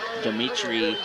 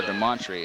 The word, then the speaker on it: Demontri: scrambled out along with Dimitri Hamilton on the tackle that time. Or Demontri, excuse me. I want to pronounce that name right as the PA system just pronounced it.